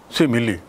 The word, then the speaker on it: simile: उच्चारण भी ख्याल रखेंगे, सिमिली.